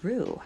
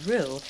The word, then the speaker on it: roux: In the meantime, we're going to get started on our roux, which I'm going to explain what a roux is in just a moment.